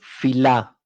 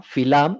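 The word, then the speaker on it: filà: Aquí le llamamos filá, con acento en la A, filá.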